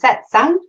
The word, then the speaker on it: satsang: Is it satsang? Yes. The pronunciation.